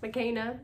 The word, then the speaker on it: Makena: And then in the video, I was like, oh, But anyways, Makena is how you say her name.